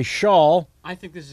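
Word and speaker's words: Schaal: johnny galicki followed by shawl is it shaw yup kristen i always feel the need to mispronounce because there's a double a like i should be saying kristen shale nope you gotta write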